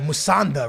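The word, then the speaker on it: Musonda: There's also another kid that's on loan, Musanda, right?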